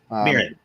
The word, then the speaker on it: Mirren: Mirren, yes.